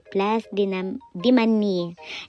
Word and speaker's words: Place de Manille: Ayan po sila po nag-aasikaso dito sa may plus diman yan. Yan po ang tamang pronunciation ha.